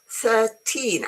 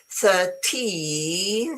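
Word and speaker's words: thirteen: The trick is mainly on the stress. Wait, I'll make it bigger. You see, 13, I'm exaggerating, okay? 13, the stress is towards the end. 30, the stress is at the beginning.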